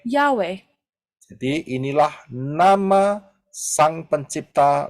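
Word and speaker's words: Yahweh: you read it as y he W he dan pengucapannya adalah and the pronunciation is yahwe yahwe jadi inilah nama Sang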